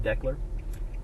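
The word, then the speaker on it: Decherd: VH is built in declar Tennessee I believe it's pronounced declar if anybody knows how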